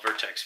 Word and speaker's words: Vertx: by a company called vertex V er T X no II in between the T and the X they spell their own